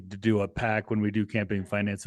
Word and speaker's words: AIPAC: A pack. Well, and I think the AI the fact that Apac, even though it's pronounced Apac, is AIPAC.